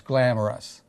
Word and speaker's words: Glamrus: Glamorous, Glamorous. It's spelled Glamrus.